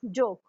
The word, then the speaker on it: joke: Next है हमारा जोक, JOKE जोक। जोक भी हमारा, इसमें भी हम ई का उच्चारण तो हो रहा है, बट हम इसको